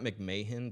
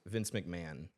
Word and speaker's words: McMahon: wrestling Vince uh MC it's not McMahan but that's how it's spelled it's like MC m a ho o n v Vince McMahon like all the women